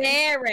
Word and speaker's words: Mary: How do you say it? Mary. It's Mary, like that game.